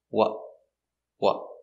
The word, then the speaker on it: what: what was he wearing now it has a stop t because the t is after a vowel what was he wearing and you can put your tongue in a t position and stop the air what was he wearing or you can stop the air here watch what what i stopped the air here what what was what was so